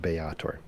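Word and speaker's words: Baator: bator um yeah bayator apparently pronounced bayator um in infernal and um obviously home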